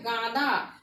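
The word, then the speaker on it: গাঁদা: আরেকটা চন্দ্রবিন্দু যদি দিই তাহলে হয় গাদা, এটা একটু নাকানো উচ্চারণটা হবে যেহেতু উপরে চন্দ্রবিন্দু আছে।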